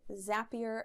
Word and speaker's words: Zapier: zapier and he said zapier makes you happier so that's how you remember how to pronounce it it makes you happier